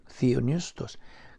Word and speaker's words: theopneustos: Silent P ka na. Theopneustos.